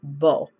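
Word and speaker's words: 剝: is mountain over earth and it's pronounced bull and so what I'm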